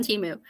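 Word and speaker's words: Temu: the t word is rhymes with emu they do but they're more expensive and that's why I didn't buy them on Teemu but I was at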